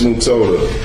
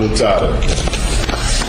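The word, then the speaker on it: Mutota: Miss Mutoda. Mutoda? I don't understand about your phonetics or how you pronounce words. Mutoda. Mutoda? Not Mutada. I thought you had told me it was M-U-T-A-T-A. No, M-U-T-O-T-A.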